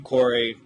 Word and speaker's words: Choire: just kidding hi I'm Corey Seager and it's spelled very poorly and it looks like choir with an e on the end and I don't really